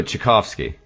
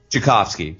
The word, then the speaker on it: Tchaikovsky: that the answer the fairy Plum fairies Oh chick offski Tchaikovsky sorry offski I'm sorry my brain is a as much after the handling go all weekend but Tchaikovsky so so Russia tried to scrub that this